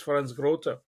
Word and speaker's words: Franzgrote: It's Franzgrote anglicized, and if you're doing it Germanically, it's Franzgrote.